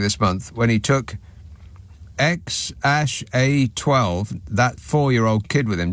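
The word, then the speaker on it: X Æ A-Xii: his other kids, the three with Grimes, are called XAEAXII, which apparently is pronounced XAA12.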